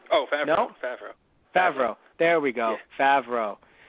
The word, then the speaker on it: Favreau: Nope, I got his name wrong again. Favre. Right? Oh, Favreau. No? Favreau.